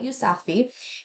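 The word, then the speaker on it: Yousafzai: I am Malala by Malala yousafi and um I looked it up that's how you say it um and this story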